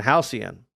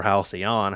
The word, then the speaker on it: Halcyon: It is Ash, or Another Story in Halcyon, or Halcyon, however you want to pronounce that. I've heard it said many different ways.